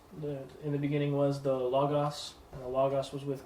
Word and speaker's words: logos: with God, and the logos was God, but not the logos. There's a Bible software called Logos, even though the company pronounces it Logos. They're wrong. They're wrong about their own name.